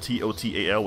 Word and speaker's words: total: Like, like total, like the word T-O-T-A-L, we say total. We completely pronounce that second T with a D.